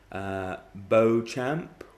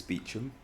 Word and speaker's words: Beauchamp: not correct it's chumley beauchamp or beauchamp it's not correct it's beecham and that makes perfect